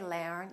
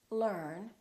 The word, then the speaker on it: learn: Or e a r. For example, learn and heard. Don't say learn and heard. It's learn and heard.